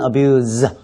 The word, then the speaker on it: abuse: Drug abuse라고 발음을 하죠 명사로 abuse 쓸 때는 S 발음으로 쓰고요 동사로 쓸 땐 abuse 예 즈 발음으로 쓰죠 한국 사람들이 참 못하는